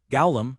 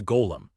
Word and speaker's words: golem: Gllum, he asks, mispronouncing the word. It's a golem.